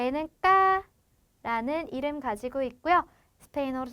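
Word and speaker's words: ka: 자, 까라고 하는 K는 발음이 쌍기역 소리 가지고 갑니다.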